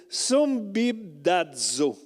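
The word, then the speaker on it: συμβιβάζω: Et le mot grec n'est pas facile à prononcer, c'est sumbibdazo. Okay? Sumbibdazo.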